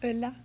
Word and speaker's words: Ulla: Ulla? Is that how you pronounce it? Ulla.